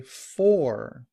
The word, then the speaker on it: for: This what looks like to be a backward C plus the R is pronounced in American English as or. And so we say for I've been here for a long time. But in reduced form for sounds more like and when combined with a we would say fur.